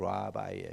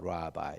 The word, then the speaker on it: 랍비: 우리말로 그냥 한 거니까 비슷한게만 생각하시면 돼요.에 히브리 사람들이 하는 그 우리 말론 랍비여 그러는데 사실은 랍비가 아니고 라바이에 이렇게 나와요. 라바이 이렇게 나오죠.